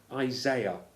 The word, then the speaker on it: Isaiah: get the order right Isaiah or as our American friends say Isaiah the spelling is the same i a i a